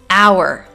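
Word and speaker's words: hour: as you can see I am NOT pronouncing the first letter H so this is our not power but our next words are honor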